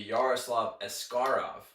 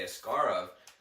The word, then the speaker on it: Askarov: debated about asaro's name supposedly the right way to say it in Russian would be yaroslav escar and when he first came here he was correcting people they he wanted the media to say ascar of but apparently recently he's